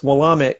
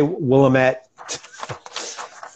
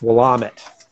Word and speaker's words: Willamette: And that's how they say it, folks, Willamette. Because if you hear anybody from Oregon say it, that's how they say it. So don't say Willamette. It's Willamette.